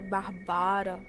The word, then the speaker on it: Bárbara: Na verdade se pronuncia Barbara, mas nós vamos chamar de Bárbara, porque até eu falar Barbara toda hora. Daí Catarina falou que só ia se a Bárbara fosse morar com ela.